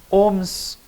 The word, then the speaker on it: ohm: Deste jeito aqui, quem trabalhou com esta expressão, DDP dividido pela amperagem, foi um físico chamado Ohms, George Simon Ohms.